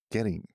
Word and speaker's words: Goetting: our special guest Mentor in the house getting nailed it boom I'm that's how you pronounce it I was wondering okay okay you